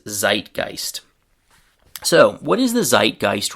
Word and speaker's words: zeitgeist: In English we pronounce this word as zeitgeist.